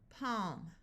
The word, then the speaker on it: palm: silent talk walk stock here we have a l before an m so the a will have the broad a sound of a and the L will be silent calm Palm B balm CH says